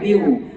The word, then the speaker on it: Viu: เข้า ไป เบิ่ง ได้ viu อ่าน ว่า วิว ใคร ๆ ก็ วิว